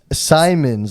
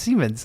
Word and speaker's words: Siemens: They make like Simons, like Siemens. but it's pronounced Siemens.